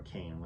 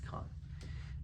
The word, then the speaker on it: Caan: Or Kane, I don't know how to pronounce his name. I think it's Khan.